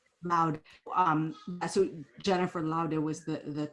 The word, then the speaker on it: Laude: Do you pronounce Laude? How do you pronounce her name? Laude? Or is it Laud? Loud.